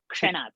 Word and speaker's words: क्षणात्: Only now you have to learn how to pronounce ksha, kshanat. That you will practice slowly. So K-S-H sound should come ksha and not sha.